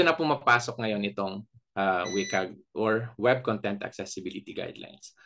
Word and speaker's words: WCAG: accessible so dito na pumapasok ngayon itong ah wik or web content accessibility guidelines So from here on out ah tawagin ko na lang siyang wik kasi mas madali siyang i-pronounce Ah pwede naman